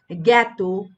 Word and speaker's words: জ্ঞাত: তো শব্দের শুরুতে যুক্ত ব্যঞ্জন দেখা যায় যে এই যে তোমরা দেখতে পাচ্ছ গ আকার থাকলে তখন কিন্তু আমরা এ উচ্চারণ পাই। যেমন এখানে জ্ঞাত যেমন জ্ঞান যেমন জ্ঞাপন। তো এগুলো কিন্তু এ উচ্চারিত হয় কিন্তু আ উচ্চারিত হচ্ছে না।